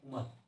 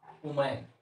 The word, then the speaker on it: woman: जाति लिख सकते हैं उमन, WOMAN। गाँव में इसको बोलते हैं, प्रोनाउंसिएशन करते हैं उमैन, ये गलत है, उमन बोला जाता है, उ यहाँ देखिए उमन, आ समझ में।